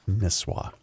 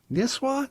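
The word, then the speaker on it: Nisswa: John, just cuz you're going to get emails, it's pronounced Nisah. Niswah. Really? I've always said Niswah.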